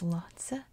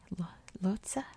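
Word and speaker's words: Lhotse: known how to pronounce i've always assumed it's lotsa like a lhasa opso dog anyway lotsa lotsa in nepal slash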